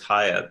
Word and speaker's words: Hyatt: Some people try to pronounce it that way, but it's Hyatt. It's like the English spelling, because that was the pattern of migration. It was French and then English. Right. HYATT is the English version, I suppose. Not to be disrespectful, but like the hotel.